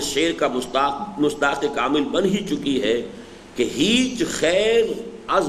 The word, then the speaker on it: ہیچ: کوئی بھی شے، ہیچ، اور اصل میں ان کا تلفظ ہیچ ہے۔ ہیچ خیر از بردک، بردک کس بلا کا نام ہے؟